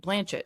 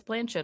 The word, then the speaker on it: Blanchett: If it were my choice and I became famous, I would go with Blanchett because that rhymes with planet and I feel like that gets you into a hip-hop verse much more like easily.